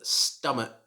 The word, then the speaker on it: stomach: the way number 10 you should pronounce this word stomach stomach you should not pronounce it like stomach or stomach as i sometimes hear it should just be stomach like my stomach is full after dinner number eleven this word